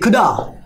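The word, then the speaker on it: coulda: এই কুড হ্যাভকে আমরা বলতে পারি CULDA, খুদা, কী বলতে আমরা খুদা, এই এলটা কিন্তু একটা সাইলেন্ট লেটার, এখানে খুদা কী হবে, খুদা।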